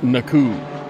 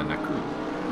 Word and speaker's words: Naku: Simeon's last name is pronounced, I believe it's Naku. Ah, Naku.